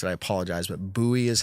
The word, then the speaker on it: Bui: Michael, and I never asked how to pronounce it. I apologize, but Bui is how it B-U-I.